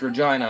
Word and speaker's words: Regina: And the city's pronounced Regina. I thought it was just named after the city.